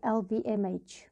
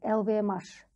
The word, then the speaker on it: LVMH: Кстати, по поводу правильного произношения LVMH. Можно произносить на английский манер, как я сейчас произношу, а можно произносить на французский манер LVMH. То есть обе версии официально верны.